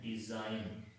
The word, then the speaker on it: design: Example देखें, DESIGN, डिजाइन। अब इसमें एन से पहले, इस रूल के मुताबिक एन से पहले जी आया है तो इस डी को हमने यहाँ पे साइलेंट रखा है, इसको हमने